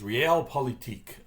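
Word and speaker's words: Realpolitik: it's actually the the the German pronunciation is real politic which is a German word that essentially is often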